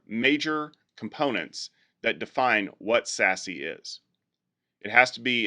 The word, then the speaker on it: SASE: category going forward called secure access service edge which is pronounced sassy what is sassy well